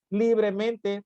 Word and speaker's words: libremente: Libremente, palabra sobresdrújula por estar acentuada en li. Si se dan cuenta, si pronunciamos la palabra libremente, nos damos cuenta que en li es donde recae precisamente el acento prosódico.